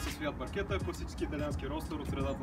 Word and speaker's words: Barchetta: Името Barchetta също идва от италиански, означава малка лодка и точно понеже идва от италиански, това е причината произношението да е Barchetta, а много хора да го бъркат с Barchetta.